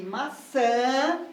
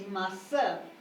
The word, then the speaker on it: maçã: compasso e aqui aqui percebe que a sílaba tônica é a segunda sílaba isso pra gente em